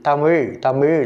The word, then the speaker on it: தமிழ்: தமிழ் வழி பழம் மொழி ழ ழ என்று உச்சரிக்க வேண்டும் பலரும் லா லா என்று உச்சரிக்கின்றார்கள் அப்படி உச்சரிக்கக்கூடாது லா என்று தான் உச்சரிக்க